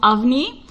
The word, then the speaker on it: Avani: We also have Avani. I want to say Avani, but I've heard her pronounce it Avni.